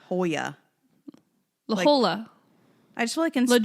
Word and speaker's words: La Jolla: like near orange county it's spelled like la jala but i want to say it's the holy yeah hoya la hola i just